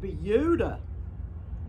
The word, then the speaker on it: Buda: be no exception it's spelled buddha b-u-d-a we pronounce it buddha i realize that a lot of the words